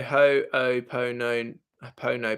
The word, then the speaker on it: Ho'oponopono: Random name says, as someone from Hawaii, that is how you pronounce it.